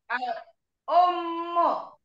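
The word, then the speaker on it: الأمّ: Al-um. Iya. Coba fokus ke kata yang kedua saja, Ibu. Al-umul. Ada tasdid di Mulnya sini. dari mana? Mulnya dari mana?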